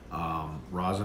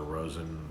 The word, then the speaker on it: Rosen: Rosin Hotels here, if you know Rosin Hotels or Rosen, depends upon how you say it.